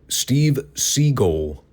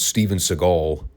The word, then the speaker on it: Steven Seagal: At one point he got so tongue tied he wound up calling him Steve Seagull. I was like, did Mer just call him Steve Seagull or did he just mispronounce Steven Seagal?